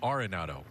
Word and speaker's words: Arenado: Nolan Arenado. It is pronounced, by the way, Arenado.